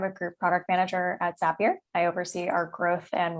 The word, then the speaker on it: Zapier: pronunciation of zapier because it is zapier it rhymes with happier i've heard plenty of